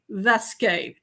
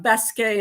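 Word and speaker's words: Vasque: love with are called vesque uh bque in in Spanish you wouldn't pronounce the the V You' pronounce it B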